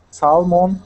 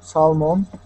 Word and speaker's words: salmon: Salmon, salmon. Trout, trout. Good. Now this word here, we don't pronounce that that L. The word is salmon.